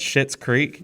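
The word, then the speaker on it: Schitt's Creek: it's on netflix uh called shit's creek and that is spelled s-c-h-i-t-t-s mom it uh my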